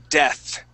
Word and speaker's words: death: Okay, now, how you're going to pronounce that TH, okay? I want you to think of la theta de los españoles, okay? Uh-huh. Like they would say gracias. Okay, they stick their tongue between their teeth, right?